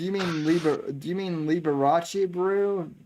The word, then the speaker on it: Liberace: drink now because of how badly i just pronounce that liberus and it's liberace all right i mean